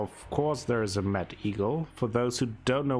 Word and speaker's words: Mettigel: Well, of course there is a Mad Eagle.